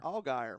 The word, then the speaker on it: Allgaier: Allgaier.